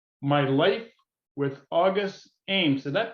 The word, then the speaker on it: August Ames: to is porn star M my life with August Ames did that pronounce that correctly Hillary yes you did August Ames and the author of course is Hillary and